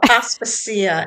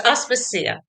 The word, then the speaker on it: Aspasia: No, you know, actually, it's called Aspacia. Everybody does that. I know. Okay, that's okay. I feel like I should have like a little like, you know, instruction on how to pronounce it. No, everyone says that it's it's it's a Greek woman's name, but it's not very common, you know.